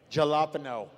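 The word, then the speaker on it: jalapeño: Jalapeno.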